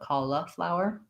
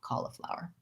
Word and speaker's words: cauliflower: cauliflower cola flower cauliflower and i think there's some regional variation on the first vowel some may say it more like cauliflower with more of an ah i use the rounded ah cauliflower then we have mayonnaise